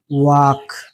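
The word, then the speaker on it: walk: For example B ए एल M balm C ए एल F calf W ए एल के वाक यहां एम के पहले एल लिखा गया। इसीलिए यहां एल साइलेंट है और यहां के के पहले एल लिखा गया। यहां भी एल साइलेंट है। इसे वाक पढ़ा गया।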